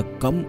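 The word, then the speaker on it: गं: होता है इसी प्रकार जी के ऊपर जो बिंदी लगी होती है वह कम उच्चारण होता है यह भगवान श्री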